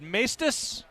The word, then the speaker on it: Maestas: Am I saying it right? Maestas? Yeah. Okay. Mestis. Well, no. Mestis. There has How does to your be dad say it? There has to be a right way to say it. It's been a hot topic of how to say it. I say it Mestis. Then we're going with Mestis.